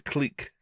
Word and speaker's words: clique: talk about that click it's not a click yes it is it's a clique it's a clique is that really how you say it is it French that's true it's like